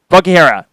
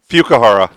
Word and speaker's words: Fukuhara: Karen Fakihara. Nope. Fukuhara. Fukuhara. Yeah. Fukuhara.